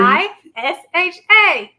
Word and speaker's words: Neisha: Just search her name and it's spelled correctly. N-E-I-S-H-A.